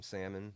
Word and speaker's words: salmon: And you called it salmon, not like salmon. I've had some people who the L is silent, but like, oh no, salmon. Like, no, there's an L in there.